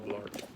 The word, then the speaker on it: Blart: Rhymes with fart. Paul Blart.